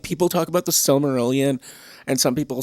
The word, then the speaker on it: Silmarillion: love the silmarillion silmarillion see i even say it wrong sometimes the silly marillion the cell it's the silly marillion no it's the silmarillion but people talk about